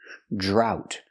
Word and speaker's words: drought: jump, plus the R, drought. We see the OU making the OW sound like out and about, drought. And the T is a stop T, drought. And remember, GH together is silent.